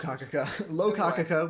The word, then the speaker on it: Locacaca: The Rokakaka. I don't know how many syllables it is. Rokakaka. Anyway, Locacacaka. We've been saying it with an R this whole time.